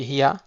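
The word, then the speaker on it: היא: Et en arabe aussi pour le L, on dit hiya. Et en hébreu, ça se dit hi. He, hirik, yud et un aleph. Il n'y a pas de point sur le aleph.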